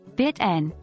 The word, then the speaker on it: bitten: one fight bitten the past participle bitten is pronounced like bit n with a silent E 2.